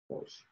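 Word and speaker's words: gouache: people would use like uh they call it gauche ghosh figured out how to pronounce that but anyway it's this it's not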